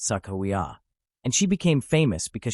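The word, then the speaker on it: Sacagawea: woman from the early 1800s whose name is pronounced Sakawa.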